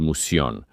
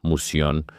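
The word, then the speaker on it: Mouseion: El edificio que guardaba este conocimiento era parte del complejo mayor llamado el Musion. Así se pronuncia en griego, Musion.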